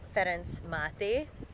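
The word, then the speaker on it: Ferenc Máté: is go see by fence mati you can notice that I pronounced that in a certain way not with an English accent or American accent because it is written by a Hungarian man and since I am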